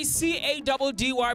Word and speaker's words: Caddy: It's your boy C-A-D-D-Y pronounced Caddy.